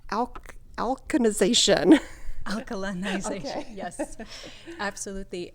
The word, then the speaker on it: alkalinization: bit about and I don't know if I'm pronouncing it right Al alization alkalinization yes absolutely it's it tends to be a